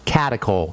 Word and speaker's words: catechol: Catechol? Catechol. C-A-T-E-C-H-O-L. CHOL, catechol estrogens.